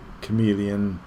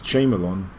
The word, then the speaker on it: chameleon: I used to say chameleon I used to say that as J Malan it does look like Chamberlain when you spell it anyway so it's basically a